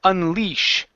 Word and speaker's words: unleash: And your last one, we have an SH sound at the end. Unleash. Unleash. Unleash. Good. Much better with the SH.